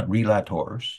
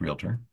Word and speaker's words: realtor: okay the uh Suburban relators which is the way the Americans mispronounced realtor um are trying to